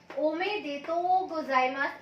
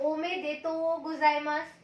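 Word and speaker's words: おめでとうございます: उसको आप कैसे बोलोगे, ओमे देतो गोजाइमास। अब यहाँ ओ के ऊपर लॉन्ग साउंड है, मैंने बताया था बार का मतलब लॉन्ग साउंड होता है, तो यहाँ पे हमें थोड़ा लॉन्ग साउंड देना है।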